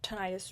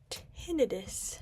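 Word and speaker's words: tinnitus: Also, from my tonitis research. Well, one, I learned that it's actually pronounced tinidis, but I'm still going to say tonitis because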